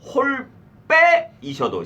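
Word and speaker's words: 홀 배: 어린 백셩이 시작 니르고저 홀 빼셔도 시작 거기에 홀덤의 리을담의 여린이 있잖아 그럼 그 뒤 글자를 세게 발음해야 돼 된 소리를 하여튼 홀배가 아니라 홀 빼라고 읽어야 돼 알겠지 니르고져 홀 빼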